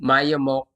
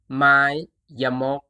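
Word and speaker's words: ไม้ยมก: This symbol is called Mayamok. Mayamok.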